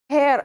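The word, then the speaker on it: heir: Hour அப்படிங்கிற போதும், ஹேர் அப்படிங்கும் பொழுதும், ஆனர் அப்படிங்கும் பொழுதும் எச் அப்படிங்கிற இது வந்து சைலண்டா இருக்கும்.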